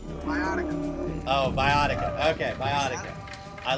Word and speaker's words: Viotica: How you pronounce the merge tribe name? Viotica.